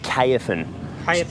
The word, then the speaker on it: Caofen: so how do you pronounce that that is pronounced KFAN so this is the kfn f80 trail bike